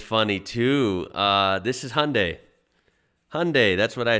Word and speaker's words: Hyundai: pronounce it as hyundai americans make it like two syllables like hyundai australians three syllables hyundai well yeah some americans